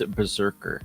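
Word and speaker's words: BRZRKR: Justin Lin will direct Keanu Reeves' Berserker. I think that's how you say it. That's how you pronounce it.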